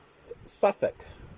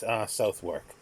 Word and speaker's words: Southwark: But the pronunciation is Suffolk. Suffolk. Or I always get it wrong, but it's something to the effect of Suffolk. How you do that, don't ask me. But it's not Southwark.